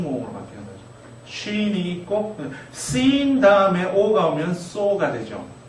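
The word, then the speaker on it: שׂ: sin. 왼쪽에 점이 있다는 걸 기억하시고 아까 사맥하고 같은 발음이라고 생각하시면 되겠습니다. 시옷 발음이죠.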